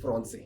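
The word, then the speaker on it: français: speak French and French when I say French it means fron right so the word French means fron can you repeat after me it's fron it's important because this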